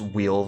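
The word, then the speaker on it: weal: Listeners, wheel there at the end of that is spelled W-E-A-L, as in good luck.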